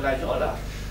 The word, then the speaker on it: Laguiole: reconnaître entre nous puisque un vrai en aéronis va prononcer avec l'accent de l'oxyation et va dire la viole alors que quelqu'un sérieux va prononcer toutes les lettres.